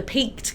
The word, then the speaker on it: Peaked: So did I pronounce that correctly? Peaked pies? Peaked pies, Peaked yes.